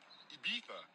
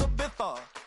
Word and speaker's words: Ibiza: I just went to Spain, that's a Ibiza. Ibiza. Yeah, it's pronounced Ibiza, actually.